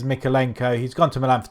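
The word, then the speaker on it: Mykolenko: Mikalenko, I think I pronounced it Milenko before, so I do apologise. So it is Mikalenko.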